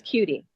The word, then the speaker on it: Kutti: Is it Miss Kutti? It's Kutti. Cutie, excuse me.